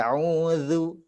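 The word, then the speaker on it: أعوذ: seri bagian atas Eh a'udzu wuhu a'udzu iya tahu Iya jadi biar supaya adanya tidak terdengar seperti huruf z a'udzu Itu zuk huruf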